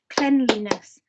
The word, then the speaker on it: cleanliness: Oh, we haven't had 3 syllables before. Shall we clap along together? 3, 2, 1, cleanliness.